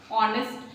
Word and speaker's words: honest: Honest H से start होता है लेकिन pronunciation क्या होती है?